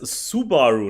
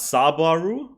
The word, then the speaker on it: Subaru: long as I win that's a Subaru not sob aru just by the way is a Subaru a Subaru yeah Subaru not Saburo that's spelled wrong everyone's wrong